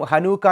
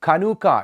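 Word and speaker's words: חנוכה: ബ്രാഞ്ചുകളുള്ള ശിഖരങ്ങളുള്ള menorah എന്നുള്ള ഒരു വിളക്കാണ് ചനൂക്ക എന്നും ഹനൂക്ക എന്നും ഒക്കെ നമ്മൾ വിളിക്കുന്ന ഈ പെരുന്നാളിന്റെ യഥാർത്ഥ അർത്ഥം എന്ന് പറയുന്നത് ആ പദത്തിന്റെ അർത്ഥം പ്രതിഷ്ഠ അഥവാ ഡെഡിക്കേഷൻ എന്നുള്ളതാണ് യഥാർത്ഥമായിട്ടുള്ള എബ്രായ ഭാഷയിൽ കനൂക്ക എന്നുള്ള ഉച്ചാരണത്തിലാണ് ആ ഒരു പദത്തെ അറിയപ്പെടുന്നത് കനൂക്ക എന്നുള്ള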